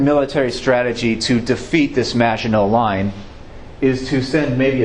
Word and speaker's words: Maginot: It's a French term. It's spelled Maginot, Maginot. They built this thing up in the 1800s even.